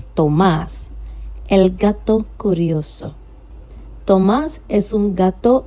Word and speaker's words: gato: So I said el gato curioso. I did not say gato. Gato. To. Your tongue is doing more of the work.